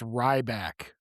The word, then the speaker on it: Ryback: It's pronounced Ryback.